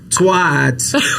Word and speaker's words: twat: Twat. Like a hat.